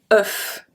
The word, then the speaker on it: œuf: So if you can hear the difference, this one, un neuf, sound exactly like a E, just a E. Œuf.